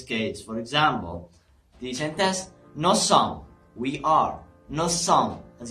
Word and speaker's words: nous sommes: If the first word ends with S and the second word starts with S as well, then we pronounce the S like S, okay?